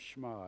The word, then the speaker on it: Shema: It's pronounced Shema, S-H-E-M-A, and it's that Jewish saying that they recited morning and night.